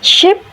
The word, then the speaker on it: ship: The example is ship versus sheep. The error occurs because Indonesian speakers tend to use a single e sound. In English, i is relaxed or shorter, while e is tense or longer.